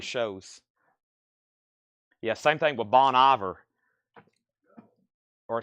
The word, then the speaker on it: Bon Iver: yeah same thing with Bon ior or seor Ross what is Bon ior again bony be last time I checked I'm not from France Bonnie ve and and SE seor